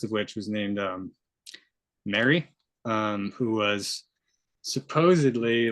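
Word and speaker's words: Meri: referring to Mary who Mary um it's this ancient Egyptian person who was I think is spelled m-e-r-i um and this is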